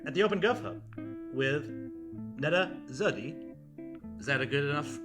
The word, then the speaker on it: Nada Zohdy: I'm sitting here at the OpenGov Hub with Nada Zohdy. Is that a good enough pronunciation? 95%. 95%? Nada Zohdy, yeah.